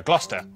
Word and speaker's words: Gloucester: Sester is pronounced Stir. Leicester, Worcester, Gloucester.